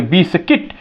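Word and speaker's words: biscuit: एल D guild you हमारा क्या हो गया साइलेंट हो क्यों क्योंकि यू के बाद आई आ गया यहां आप देखेंगे बिस्किट बी आई एस सी यू आई टी यू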